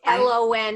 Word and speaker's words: Prolon: what brought me here today so what is prolon so prolon is and it's lon everybody it's not something you put on your l-a-w-n correct it's spelled p-r-o-l-o-n and what it is stands for